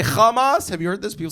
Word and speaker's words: Hamas: They were like, "Why do you keep saying Hamas, right? It's not pronounced Hamas, it's hamas, back of the throat H."